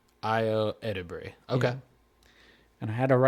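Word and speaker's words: Ayo Edebiri: It's Io Edebri. Io Edebri. Okay. Yeah. And I had to write it down phonetically.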